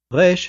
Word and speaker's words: ריש: Resh has no identical sound in English. This one is really hard to pronounce for English speakers, just like it's really hard for Hebrew speakers to pronounce the English R correctly. Resh is approximated by the letter R, although it sounds quite a bit different. Resh is rolled in the back of the throat like when you gargle salt water.